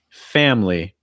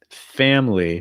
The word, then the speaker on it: family: about this before but when you have that a sound followed by a nasal like an m or an n or an ng it's going to break